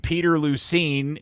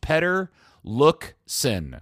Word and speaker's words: Peter Luccin: about, because since the last time we spoke, Petter Luccin. By the way, we have to just officially establish from the beginning that for the last, I don't know, 10 years, we've all been calling him Peter Luccin, and I swear, at one point when I